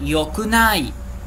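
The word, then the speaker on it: よくない: A gente pronuncia com o som de yo, né?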